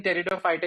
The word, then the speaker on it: Pteridophyta: is pteridophyta i know this p here in territory fighter is ignored like the middle child in your family so ignore him when you're pronouncing it okay bryophyta and teredo fighter that is where the